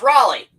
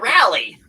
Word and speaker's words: Raleigh: Riley um and possibly what's that pronounce Raley yeah that's what I said Raleigh you said rally get your tickets at galaxy.